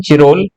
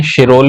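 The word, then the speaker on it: Chirol: भी पढ़ा जाता है, क्योंकि ये इनकी स्पेलिंग सी से शुरू होती थी, इसीलिए चिरोल शिरोल कहने में दिक्कत आती है। तो चिरोल या शिरोल अगर लिखा हो तो उससे कंफ्यूज नहीं होना है।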